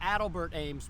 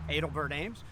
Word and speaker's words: Adelbert Ames: personal pronunciation because man a lot of people call him adelbert ames but gary edelman definitely prefers the pronunciation edelbert ames um secondly he thirdly